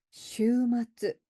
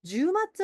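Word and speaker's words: 週末: 슈마츠 . 슈 마츠 , 그렇지 ? " 슈마츠 " 라고 잘못 발음 하기 쉽습니다 . " 슈마츠 " 입니다 . " 슈 " 는 긴 글자 입니다 .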